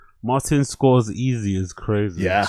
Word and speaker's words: Scorsese: Martin scores easy is crazy. Is that how he pronounces it?